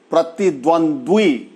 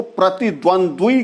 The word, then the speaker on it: प्रतिद्वंद्वी: खा जाते हैं, जैसे प्रतिद्वंद्वी, द्वंद्वी। तो प्रतिद्वंद्वी को अगर हम बोलते हैं तो प्रतिद्वंदी बोल जाते हैं। लास्ट का द्वी जो है वह उसको हम खा जाते हैं, प्रतिद्वंदी बोल जाते हैं।